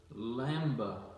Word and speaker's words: lambda: And that H is actually a word that means, let's see if I can say lambda. Lambda is the way it looks like it's spelled.